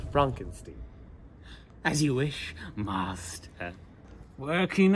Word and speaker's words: Frankenstein: foreign my name is pronounced Frankenstein As You Wish must